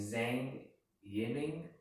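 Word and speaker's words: Zhang Yiming: in 2012 by a man in china named zane yenning that that's how you pronounce it and was stabilized in this year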